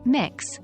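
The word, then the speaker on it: Mx: language you can use the title mix pronounced mix before their surname for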